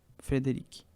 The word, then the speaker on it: Frédéric: Frédéric é F-R-E-D-E-R-I-C-K. C é mudo, entendeu? Frédéric.